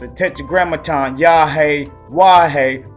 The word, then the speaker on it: Yahuah: or characteristics of hisself but his name is yahwa all right we should seek out his name